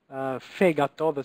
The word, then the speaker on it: fegato: Fegato. The accent here is on the first syllable, fegato.